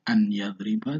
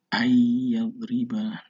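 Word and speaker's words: أَن يَضْرِب: Nah, itulah dinamakan memasukkan suara huruf ke dalam huruf setelah nun, bukan membacanya an yadriba, tidak, ayyadriba, nunnya seakan-akan hilang tetapi tulisannya tetap nun.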